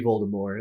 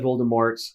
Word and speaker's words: Voldemort: supposed to be Voldemort, like Oh. French. But the movies said Voldemort, and then it's weird